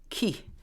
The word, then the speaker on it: Ki: the uh terminology for the Earth is key Ki some people might uh spell it that way and some of our